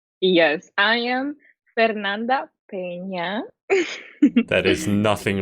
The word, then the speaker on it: Fernanda Peña: Yes, I am Fernanda Pñena.